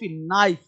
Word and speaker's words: knife: जैसे KNOW कोनो, कोनो नहीं पढ़ेंगे, पढ़ेंगे नो, नो मतलब जानना, वो के तुम्हारा साइलेंट है। KNIFE नाइफ, चाकू, KNOT नॉट, कनॉट नहीं नॉट, गांठ बांधना नॉट, नॉक, कनॉक नहीं खटखटाना, नाइट मतलब योद्धा, योद्धा को नाइट बोलते हैं।